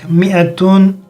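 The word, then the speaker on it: مائة: مئة مئة. Both are pronounced same, but in the second way we add alif, but we don't pronounce alif.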